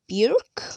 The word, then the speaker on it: Burke: and carlton's father chief clay burke i think really hard to pronounce b-u-r-k-e and right uh